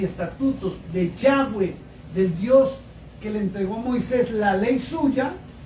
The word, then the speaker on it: Yahweh: Entonces no es Jehová y no es Dios, es Yahweh.